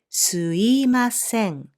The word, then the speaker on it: すいません: for easier pronunciation, and most Japanese people say すいません instead of すみません.